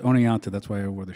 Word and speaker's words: Oneonta: Oneonta Oneonta yes oh it's pronounced owning out too that's why I wear